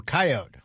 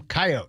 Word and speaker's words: coyote: City folk will call them coyote with a long e or coyote with a long e. But us that grew around in the sticks call them coyote with a silent e.